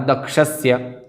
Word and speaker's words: दक्षस्य: अर्थात दक्षस्य, यहाँ पर शकार का और श मिलकर के शकार का उच्चारण हुआ है, तो दक्षस्य संभव पदम ननु कर्णिकायाः।